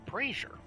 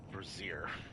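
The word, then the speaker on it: brazier: light the first braer it's pronounced braier I always thought it was pronounced brair but I think that's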